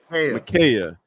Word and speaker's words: Michaela: Michaela.